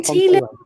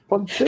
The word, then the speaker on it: Ponteland: Is it Ponteland or Ponteland? Ponteland. Yes. Ponteland.